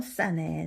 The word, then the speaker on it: เสน่ห์: 그런데 얘는 발음이 안 나죠.